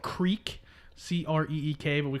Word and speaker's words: Creek: It's spelled creek, Creek, but we call it a creek. It's an Indian tribe. Really? The Creek tribe or the Crick tribe?